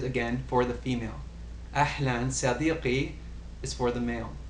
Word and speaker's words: صديقي: Notice the qaf in صديقي. It's a little bit more emphatic than perhaps صديقي if you were going to say kaf, but this word is spelled with the qaf, so it's more أهلا صديقي.